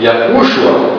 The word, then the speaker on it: Yahushua: Nós colocamos esse sinal porque este U é um pouco mais forte, então a pronúncia fica em cima de Yahushua, né?